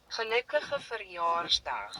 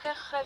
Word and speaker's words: gelukkige verjaarsdag: It's the G's. Gelukkig. How does that mean happy birthday? Sounds like you're clearing your throat. No offense. Gelukkige verjaarsdag. Gelukkig verjaarsdag. Hold on, my turn. Gelukkige verjaarsdag.